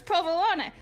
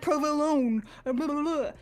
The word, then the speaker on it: provolone: So, it's like he's he's literally talking about himself cuz it's provolone, not like provolone.